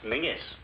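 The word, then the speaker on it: Menzies: And menses is pronounced mingis.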